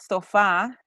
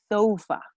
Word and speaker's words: sofa: It's not sofa, it's sofa. When we were practicing the stress of the words, you also did a homework about the stress of the words, the stress of the syllables, and this is one of those examples. Short words, they always stress at the first syllable.